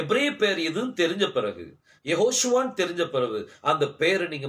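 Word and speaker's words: יהושע: ஆசீர்வதிப்பார் பாருங்க அது யெகோஷுவா யாஷுவா அப்படின்னு சொல்லி ஒரு கேள்வி வந்துச்சு சோ அதனால இந்த வீடியோ உங்களுக்கு முன்னாடி நான் வச்சிருக்கிறேன் சோ யாஷுவாங்கிற உச்சரிப்பு வராது அது என்ன உச்சரிப்பு வரும் யெகோஷுவா நான் வேதத்தின் அடிப்படையில் உங்களுக்கு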